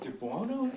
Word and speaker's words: DiBuono: introduce our guest uh his name is Dubono pronouncing name yeah that's correct dubono okay